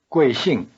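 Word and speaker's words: 贵姓: literally precious surname listen crashing crashing crashing both syllables of glassing have the falling tone try repeating it after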